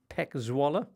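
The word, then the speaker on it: PEC Zwolle: in a row with a 60 win over pek zalla which is how they're pronounced and a 6-1 win for Atlanta against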